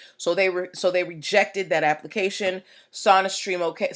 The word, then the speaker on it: SonaStream: So they're like, Sony's a long O, we're a short O.